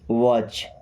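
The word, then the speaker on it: watch: अब यहां पे टी साइलेंट। ओके? वॉच।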